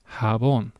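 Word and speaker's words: jabón: The letter J, ironically in Spanish tends to sound like the H that we just saw. And the example word for that is habon.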